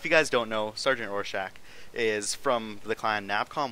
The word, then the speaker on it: Rorschach: halo hd today i am joined by sergeant rorschach that is how you pronounce my name yeah and if you guys don't understand it we could also go with raw sack yeah absolutely all right the things people have